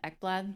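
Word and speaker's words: Ekblad: It's Ecklad. My last name is spelled E K B L A D.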